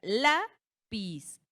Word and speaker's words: lápiz: Ejemplo, la palabra lápiz. Lápiz. Recae última en la penúltima.